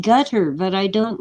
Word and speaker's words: Qatar: their pipe sideways um Qatar they say it's pronounced gutter but I don't like